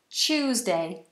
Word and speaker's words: Tuesday: I'm sure please pronounce Tuesday that's a CH sound Tuesday I choose Tuesday um